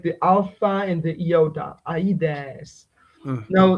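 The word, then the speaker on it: Ἀΐδης: Mm, Now, this which is not a diphthong, is a hiatus. So it's a sequence of two vowels, each of them forming a different syllable. So we can easily assume that this form actually, when the gamma was still pronounced, was pronounced awides.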